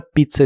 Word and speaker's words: pizza: La primera Z se pronuncia como T y la segunda Z como S.